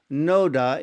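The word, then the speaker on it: Nåde: Now, Mercy is pronounced as noda in Norwegian, but in any language, this film is superb film making and no wonder it's Oscar qualified.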